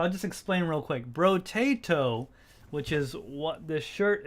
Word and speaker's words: Brotato: and a few others tried to say bro bro tato but I kept saying broto brotobrado or and all these weird things I couldn't say it right so he thought it'd